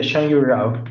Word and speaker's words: Xiangyu Rao: Xiangyu Rao. How do you name yourself? Xiangyu, yeah, Xiangyu Rao, yeah. That makes it easier. I need next time to write that in phonetically, so that I pronounce it correctly.